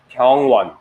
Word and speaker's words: 병원: In Korean, 병원.